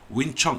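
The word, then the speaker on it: 运城: 네, 운석 해가지고 윈청 이렇게 발음을 하는데 여기 이제 호수가 있는데 이게 이제 염호, 소금 호수랍니다.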